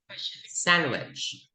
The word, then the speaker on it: sandwich: dodge, Sandwich. sandwich, Walang D. Sandwich. sandwich, Can I order a chicken sandwich, please? Yes. Sandwich.